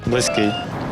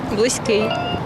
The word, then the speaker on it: близький: теж може бути близьким але всюди наголос на останній склад близький близький близький зафіксували у слові близький наголошуємо останній склад близький так Ну що